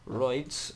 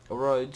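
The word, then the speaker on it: Rhodes: we're going to be taking roids uh roads sorry roids see I pronounced it uh we got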